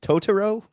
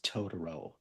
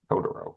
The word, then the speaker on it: Totoro: Is it Toro? It's Todoro. To you, Larsson in your pronunciation. Todoro.